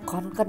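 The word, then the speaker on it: Kånken: pakai tas kkenku Duh harusnya bacanya konken ya Ah ya udahlah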